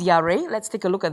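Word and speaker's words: ירא: In the Old Testament, in the Hebrew verb, okay, it's called yareh. It's pronounced yareh.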